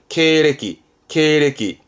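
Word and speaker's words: 経歴: 지금까지 본인이 지나온 그런 이력들을 말하는 격려인 거죠 케레끼 많이 보죠 험입니다 험 경험해 험입니다 시험에 흠짜기도 하죠 그죠 발음은 경위자입니다 경위라고 해서 발음은 k k 경위라는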